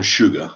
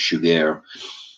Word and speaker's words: Chigurh: It's not Anton Sugar as it's pronounced in one time in the movie. It's Chigurh.